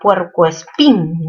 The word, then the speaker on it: puercoespín: Segunda palabra, puercoespín. ¿Mayor fuerza dónde? En la sílaba pin. ¿Qué tipo de palabra? Aguda terminada en N.